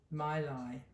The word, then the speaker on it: Mayleg: And that baby bunny is from the, well, it's written Mayleg, but actually you pronounce it Mylai.